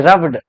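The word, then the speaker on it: rubbed: रूबर्ड नहीं, रब्ड, रब्ड।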